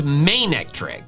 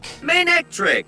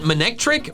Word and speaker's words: Manectric: The official one is Monectric. Monectric. It's a combination of main and electric, which makes sense because it's an electric type with a main.